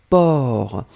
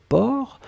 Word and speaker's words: porc: même pas nécessaire et la dernière chose c'était port alors souvenez-vous que port on ne prononce pas le ces finales d'accord mais on